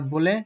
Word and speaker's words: We: যে সাউন্ডটাকে জার্মান ভাষা হচ্ছে ইওট বলে এবং এইটার উচ্চারণটা হয় হচ্ছে ওয়াই এর মত।